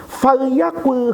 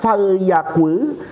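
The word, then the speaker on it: فليقل: Yang pertama, falyakul khairan. Ini cara bacanya dalam periwayatan hadis ini ada dua. Boleh dibaca falyakul, boleh dibaca falyakul.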